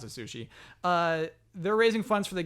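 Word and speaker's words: Sushee: So it's like sushi, but it's sushi. They pronounce it sushi.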